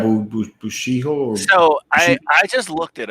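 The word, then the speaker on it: Bishoujo: But you know the girl statues that they have, the Bushiya? How do you say that? Yeah, Bushiho.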